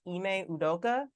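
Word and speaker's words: Ime Udoka: now the Boston Celtics uh have suspended coach ineudoka that is correct that is how you say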